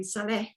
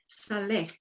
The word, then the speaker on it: Salleh: you note, people note, that my surname, Salleh, is an Asian name. It's a Muslim name, actually, which I acquired through misadventure once when I was very young. And so it's the same pronunciation in the South Pacific Islands as well.